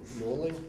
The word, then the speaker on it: Norling: Norling, is that how you say it?